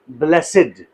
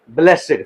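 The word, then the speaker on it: blessed: जब यह इस सेंस में यूज होता है, इट is pronounce S ब्लेसिड। ब्लेसिड।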